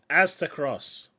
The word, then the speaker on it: Aztecross: But the first one is this big video by Axtercross. I never know how to pronounce this guy's name, but essentially it's Aztecross. Aztecross. It's not difficult. It's Aztecross. He got an email apparently